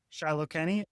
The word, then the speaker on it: Shiloh Kenny: That's the proper pronunciation? Kenny. Shiloh Kenny?